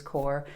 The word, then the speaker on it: cor: the latin word c-o-r which i would pronounce also as core but it basically means